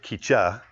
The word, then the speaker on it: Keecha: Well, Keecha, which by the way is Swahili for crazy, and actually you pronounce it Keecha, but I'm putting the wrong emphasis on the wrong syllable.